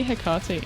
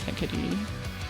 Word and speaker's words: Hecate: They say Hecate in-game, so that's how I pronounce it, but I know it's Hecate.